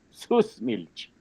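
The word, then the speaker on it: Süßmilch: Susmilch y yo pronuncio además exagerado. Aleman como alemán alemanes.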